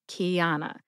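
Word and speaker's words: Qiana: For example, Kiana was one of my college roommates, and her name is spelled Q-I-A-N-A, Kiana.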